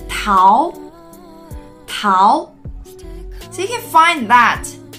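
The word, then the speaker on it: 桃: so how to say it in Chinese its pow pow so you find that how is only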